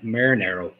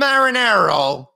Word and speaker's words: Marinaro: Oh, boy, that's Marinaro. I was so good, he doesn't even know how to pronounce my family name.